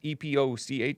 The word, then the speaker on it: Epoch: times the epoch times epoch some of you guys pronounce it epoch which is totally fine uh bellwether states and